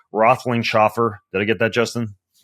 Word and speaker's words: Roethlingshoefer: today's show, whose name I have difficulty still pronouncing. Not his first name, which is Justin, His last name, Roethlingshoefer.